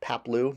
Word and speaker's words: Paploo: you know falls down pronounced Papo not that hard to pronounce not like anaman Mom